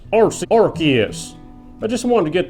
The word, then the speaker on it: Arceus: howdy howdy ho it's pronounced rc arceus i just wanted to get that psa out